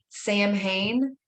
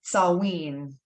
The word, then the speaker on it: Samhain: summer's end and though you're probably tempted to pronounce it samhain it's actually pronounced salween or sal salween ancient celtic religion one of